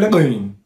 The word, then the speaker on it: Le Guin: Bu soyadı okurken çok dikkatli olmanız gerekir. Çünkü bu gördüğünüz gibi bu şurada Adem elması vardır ya. Aslında Adem elması bu Ursula Kalle'nin adının nasıl okuyacağınızı yapabilmeniz konusunda konulmuş diye rivayetler var.